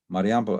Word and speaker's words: Mariampol: One near Mariampol, between Warsaw and Vilnius, west of the main axis to Vilnius, perfect tank terrain that could have a pinning effect on the forces in Kaliningrad. Mariampol, as you know, is close to the Kaliningrad,